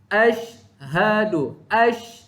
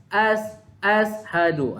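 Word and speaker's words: أشهد: Ashhadu. Itu cara bacaan dia. Bukan ashadu. Bukan sin tapi shin.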